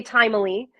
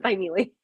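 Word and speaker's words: Thymele: a-r-t-s family Arts a lot of people say timely but it's actually spell it's actually pronounced by Neely okay so um anything else uh you want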